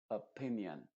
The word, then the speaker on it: opinion: Por ejemplo, en la palabra opinion se diría, en vez de opinion, se diría opinion. Opinion. No se dice o, sino opinion.